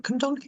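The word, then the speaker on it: Cwmdonkin: up to my college at Town Hill, was Cumdonkin. So if I'm pronouncing that right, Cumdonkin Wow, Park.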